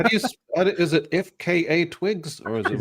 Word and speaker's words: FKA twigs: she a rapper how do you is it ifka Twigs or is it right that's right yeah am I pronouncing it right you are you know I